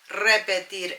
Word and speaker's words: repetir: ¿Puedes, with an S, repetir eso? Roll your R's.